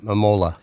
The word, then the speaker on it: Mamola: Mamola.